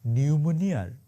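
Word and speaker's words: pneumonia: শেখ হাসিনার দশা এখন নিউমোনিয়ার ইংরেজি বানানটা আছে না নিউমোনিয়া ওইটার পি এর মত মানে থাইকাও নাই আর কি আমি আপনাদের একদম দায়িত্ব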